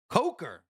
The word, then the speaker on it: Coker: It's co I don't know how to say his name. It's Coker. All right. Yeah, I'm saying it the wrong way. It's Jaylen Coker then. C O K E R.